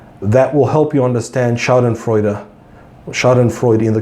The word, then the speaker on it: schadenfreude: how to pronounce this Google said the pronouncement is schadenfreude er schadenfreude 8 so it's a German term I think you Aziz